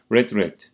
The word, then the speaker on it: read: dolmaya hiçbir zaman ona kırmızı gibi okunuyor değil mi past Simple Past participle hali Red değil mi okumak anlamak sözlüğe başvurmak